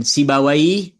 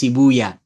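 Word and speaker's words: سيبويه: Sama dengan Sibawai, itu ulama bahasa Arab. Tapi kalau ulama hadis Sibuya.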